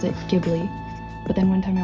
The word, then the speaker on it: Ghibli: it because for a very long time i pronounce it ghibli but then one time i watched the behind the scenes and the person in the behind the scenes on the dvd said ghibli so that really cut me up for a